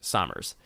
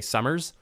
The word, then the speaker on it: Sommers: your last name, but Summers is obviously the correct way to say it. So if I had to pick, obviously it's easier for me to say Summers. But my brain is like, no, there's an O in there.